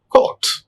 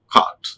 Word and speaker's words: court: Fa, court. Many people they pronounce cart. It's a court.